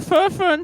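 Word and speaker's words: Furfern: I would suggest going to the Fur Fern Tavern.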